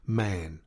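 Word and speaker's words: Mahon: man but he insisted that it should be pronounced man he was well connected yet there was something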